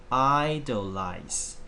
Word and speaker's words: idolize: one this is called idolize idolize okay the word I is a stress here the word I is a stress here so I idolize it is a verb